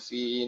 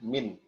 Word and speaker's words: min: min lafzi wain wahya fi nuhiha. Ada pengucapan lain ya di min ada yang mengucapkan fi, ada yang mengucapkan fi, namun sesuai sanad yang kami miliki atau sesuai setoran matan, maka kami menggunakan min.